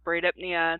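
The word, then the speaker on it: bradypnea: to say them but I was taught braid apnea tachypnea and hybrid Nia so that is how I teach my students pronounce these words so somebody if you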